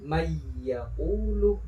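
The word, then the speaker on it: من يقول: Nah, cara bacanya yaitu dimasukkan dan didengungkan. Artinya dari nun ini langsung dimasukkan ke huruf keduanya. Mayyaqulu dimasukkan kemudian disertai dengung. Mayyaqulu. Jadi tidak boleh dibaca mayyaqulu, harus ada dengung.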